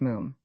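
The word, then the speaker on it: Moffam: I told you father it's m it's spelled m o ff but pronounced moom to rhyme said achie helpfully with bluffingham lu said Mr.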